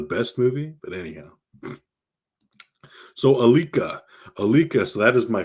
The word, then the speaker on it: Alika: first name a-l-i-k-a uh growing up i had a lot of people mispronounce it saying uh aika aquila a chica um stuff like that you know kalika a lot of funny